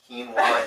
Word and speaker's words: quinoa: was July 4 and it is pronounced quinoa even though it's spelled way different it was July 4th